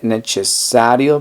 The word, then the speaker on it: necessario: Necesario, como se escribe con C, sería nece. Y es doble S, entonces sería necesario. Necesario. Entonces, ¿cómo se diría? No es necesario para mí ahora. Non è necessario per me adesso.